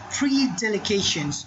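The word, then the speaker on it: predilections: Predelication, the pronunciations of this word is predelications.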